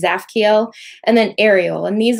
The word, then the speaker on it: Zaphkiel: That one, the T is silent, so just kind of read the from the Z on. So it's Zaphkiel.